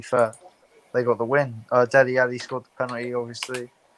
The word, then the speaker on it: Dele: I think Dele, all right, I'm saying it right, not Delhi.